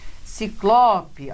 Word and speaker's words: ciclope: Ciclope, olha lá, também é paroxítona terminada em E.